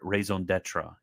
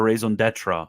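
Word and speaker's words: raison d'être: is it it is the mere raison d'etra and yes I know that's not how the French pronounce it but it's become basically an English word so you guys can cry if you want to cry about my pronunciation skills but it's merely the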